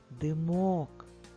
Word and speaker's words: димок: наголос в кожному слові перше слово димок наголос на букву о а в слові дим